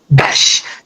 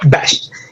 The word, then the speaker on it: Besch: Am I pronouncing it correct? Besch. Yep. Besch.